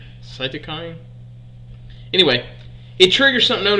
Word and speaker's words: cytokine: it Rachel yes how do you say this cytokine cytokine anyway it triggers something known as a cytokine